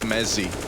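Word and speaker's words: mezii: It's pronounced Mezzi with a Z.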